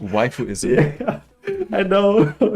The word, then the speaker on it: waifu: on internet on internet in general it's it's pronounced waifu is it i know oh my god i've